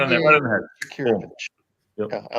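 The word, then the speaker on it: Jakirović: Just spell that for us, please, Aaron. Yeah. Jakirovic. Yeah. Jakirovich. Sounds right. Sounds Yeah. about right. You hit it. Yeah. Right on the head. Jakirovich.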